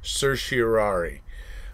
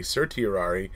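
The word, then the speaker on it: certiorari: petitioning for a RIT of sirari it's actually pronounced sersari uh Professor drizen kind of gave me some crap one time because I I prefer to say Sir tiari because you hear people say things like getting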